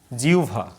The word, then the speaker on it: জিহ্বা: হয়বার উচ্চারণ ওভ, আর একটা হচ্ছে উভ। এটা আহ্বান ওভ, এটা জিহ্বা। মানে হয় ভয়ের আগে রস্বই থাকলে উভ হয়, তাহলে জিহ্বা বিউভল। আর এখানে আহ্বান, আহ্বায়ক, গহ্বর, এই শব্দগুলো, এই উচ্চারণগুলো তোমরা একটু ঠিক করে নেবে।